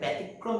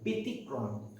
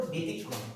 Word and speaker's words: ব্যতিক্রম: বানানটা লেখা যাবে আমি মাঝে মধ্যেই ভুল করে এটাকে ব্যতিক্রম বলে উচ্চারণ করে ফেলি, কিন্তু সেটা ভুল উচ্চারণ, এর প্রমিত উচ্চারণটা হলো ব্যতিক্রম।